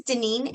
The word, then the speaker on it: Daneen: you want okay absolutely my name is dineen and i'll spell that my mom didn't do me any favors it's d-a-n-e-e-n the last name is just like it sounds my company's name is